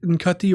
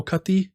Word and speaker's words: Ncuti: Like, hopefully we get this with this, is it Nkati or Cutty? I'm not sure how you pronounce the name, but if I'm right, the pronunciation is Ncuti. Okay. Ncuti Gatwa. Right. It's not how it's spelt at all, but that's what people seem to be saying.